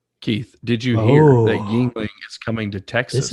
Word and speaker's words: Yuengling: Speaking of Hershey's, Keith, did you hear that Yuengling is coming to Texas? This is a big thing. Who? Yuengling. I thought it was Yuengling. Beer. Really? I pronounce it Yuengling.